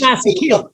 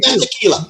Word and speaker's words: Masekela: Oh gosh, Hugh Masekela. Hugh Masekela.